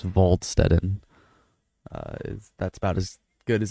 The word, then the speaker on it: Waldstetten: It's not Waldstetten because it's German, it's Waldstetten.